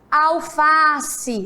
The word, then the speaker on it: alface: nós vamos descobrir agora leia a palavra alface mais uma vez alface Se você fosse gritar palavra alface como seria alface né Qual foi a sílaba mais forte qual foi a palavra que mais foi esticada e já sabem é muito bem o fá Olha só alface isso